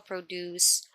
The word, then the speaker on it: produce: produced from farming example the dairy produce agricultural produce pronounced as produce so number three okay ready meals